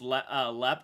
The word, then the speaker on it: Leap: I'm from Ireland and I live just a few miles from Leap Castle, pronounced Lep, the most haunted building in Ireland.